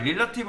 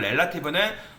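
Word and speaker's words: relative: 그 다음에 릴라티브, 그러니까 요거는 릴라티브가 아니라 정확하게는 렐라티브입니다. 발음을 좀 주의를 해야 되는데, 이 포지션 렐라티브는 그대로 유지가 돼요.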